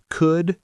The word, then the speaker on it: could: None of these have an L sound. Could, should, would. I hear learners say should all the time. Very common mistake. Remember, no L.